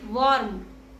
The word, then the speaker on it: warm: The next word is warm. Wo R M. Warm. And the correct pronunciation is warm.